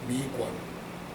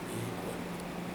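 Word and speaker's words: miigwan: Miiguan. That's 3 syllables, or 2 syllables, miiguan.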